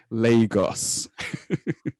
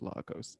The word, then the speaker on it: Lagos: it's pronounced lagos and it's not pronounced largos it is lagos lagos lagos lagos thanks